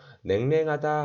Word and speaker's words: 냉랭: 냉랭하다 할 때 냉랭 뒤에 냉랭 랭으로 발음합니다.